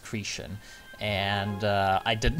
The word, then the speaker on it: Cretan: Yes, it's apparently pronounced Cretan, and I did not bother to read that one bit because I don't give a shit.